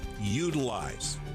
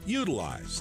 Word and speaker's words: Yoodlize: for your DIY project, Utilize. Now it's spelled different. YOODLIZE. Utilize.